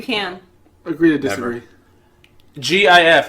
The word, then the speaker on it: GIF: GIF. How do you pronounce it? GIF? How do you pronounce it? Jif? How do you pronounce it? It's GIF because the G stands for graphic.